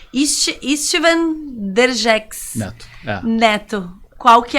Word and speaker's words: István: Lá eles falam Istvan, né? A pronúncia húngara.